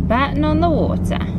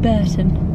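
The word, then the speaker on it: Bourton-on-the-Water: we go to Bon on the water Bon on the water sorry I keep saying it wrong keep saying buron buron on the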